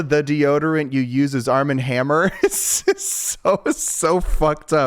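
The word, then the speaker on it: Arm & Hammer: The deodorant you use is Arm and Hammer. So so up. I I love hate this. I think that I was saying Arman Hammer because it rhymes with glamour.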